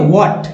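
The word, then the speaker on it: what: तो चलिए पढ़ते हैं व्हाट, जिसमें एच को साइलेंट रखा गया, डज में ई एस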